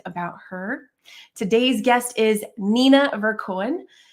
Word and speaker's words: Nina Verkoeyen: And I want to say her name one more time, Nina Verkoeyen. Hope I pronounced that correctly again.